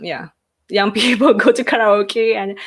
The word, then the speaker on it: karaoke: young kids go to karaoke the pronunciation by the way is officially karaoke it's at the end it's kind of okay but english speakers they say karaoke okay it's like huh